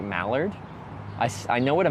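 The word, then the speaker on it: moulard: It's It's spelled M O U L A R D. And you say that like malard.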